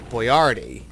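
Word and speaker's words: Boiardi: pronounced with a with the emphasis on the second syllable boardi um well you're pronouncing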